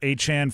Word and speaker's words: Achane: He told us all that we're pronouncing his name incorrectly. Do we call him Travis and Trevor Achane, formerly known as Etienne, so we all are aware of who we're talking about?